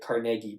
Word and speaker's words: Carnegie: I don't think anyone outside of Pittsburgh calls pronounces it Cargi, which makes me think that that's probably how he said it.